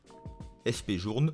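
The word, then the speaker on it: F.P. Journe: numéro 7 fp journe fp journe se prononce comme on le lit c'est son fondateur françois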